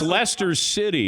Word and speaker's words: Leicester: So and it's Leicester City.